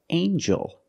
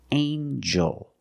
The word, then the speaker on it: angel: have with eel angel in this word the G makes a JJ sound like jump and Juice together with the n a regular n Sound not the nasal but the regular n anel angel angel this is an angel